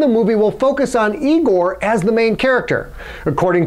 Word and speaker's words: Igor: You must be Igor. No, it's pronounced Igor. No, Igor, not Igor.